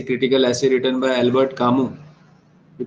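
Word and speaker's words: Camus: is an essay critical essay written by Albert kamu we pronounce him as kamu okay to Kill a Mocking Bird is of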